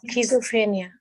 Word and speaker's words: schizophrenia: uh the details are the sister who had sizoperia I really I'm I'm I'm please forgive me if I pronounced it wrong was in a state schizophrenia schizophrenia thank you sister no worries uh was